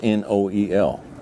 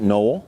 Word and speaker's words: Noel: it's Christmas Day now my last name is n-o-e-l we pronounce it Noel but there's others who pronounce it Noel my last name literally